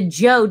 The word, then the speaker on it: Zhou: word right here, Z-H-O-U, it is actually pronounced Zhou, like Zhou, the song, you know?